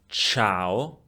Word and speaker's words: ciao: the word culla and ciao in the pronunciation of the letter C? Culla, ciao. In the first one, the C is pronounced K. In the second one, the letter C is pronounced Ch.